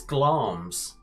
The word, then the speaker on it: Glamis: have her scottish abode is not glamisca castle it's glams yeah thing of course glams that was their macbeth